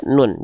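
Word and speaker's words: نون: Ketika dia belum punya harakat, panggillah dia nun. Jangan sebut dia na. Enggak ada huruf hijaiyah yang namanya na.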